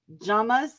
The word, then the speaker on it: llama: llamas yeah they're yamas jamas jamas they're supposed to be a j something like that a j what double l's are pronounced like a j nah really uh-huh what